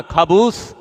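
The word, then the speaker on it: خبز: খাবুস, হ্যাঁ ঠিক আছে, খবুস দাও। অনেকে তো উচ্চারণে ভুল থাকলে খবিসও কয়।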